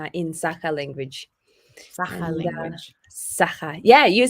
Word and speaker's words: Sakha: Sakha.